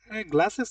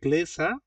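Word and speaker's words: Gläser: কি করবেন দি গ্লাসেস গ্লাসেস না উচ্চারণটা বানানটাও আলাদা উচ্চারণটা আলাদা এটা হবে গ্লেসার লাইক এরকম ডি গ্লেসার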